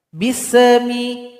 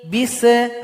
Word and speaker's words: bismi: Di sini ada huruf sin, jangan dipantulkan. Bismi. Bise. Enggak boleh dibaca bise. Harusnya dibaca bismi. Jadi alirkan bunyi nafas kita bismi.